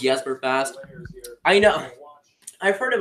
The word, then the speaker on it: Jesper Fast: just for fast and your pronunciation is yes for fast how do you just